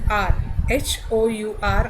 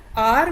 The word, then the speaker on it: hour: Similarly in R, HOUR, यानी कि घंटा. ऑनेस्ट का मतलब जो सच्चा इंसान हो, अच्छा इंसान हो. HOUR is घंटा. ठीक है? तो R में भी H साइलेंट है.